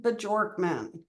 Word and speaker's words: Bjorkman: Bjorkman. And if you're wondering if I pronounced his name right, he said yes.